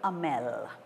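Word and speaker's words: Hamel: we must say m Amel because the H is a little silent it's mute make notes please you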